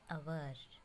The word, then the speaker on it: hour: For example, an hour. Here H is silent, so it sounds like a hour.